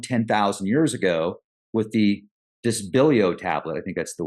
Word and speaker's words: Dispilio: to suggest around 10,000 years ago with the disbo tablet I think that's the way it's pronounced the dispilio tablet let me double check on that dispilio yeah the dispilio tablet a wooden tablet bearing